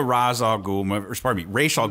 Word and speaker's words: Ra's al Ghul: It's Ra's al Ghul. You can't do a Ra's al Ghul movie without having Talia.